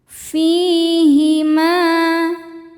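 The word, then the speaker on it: فيهما: Fihima. Fi hukumnya adalah mad tobi'i dhohiri sebab ada ya sukun yang didahului harokat kasrah. Cara bacanya fi panjang 2 harokat.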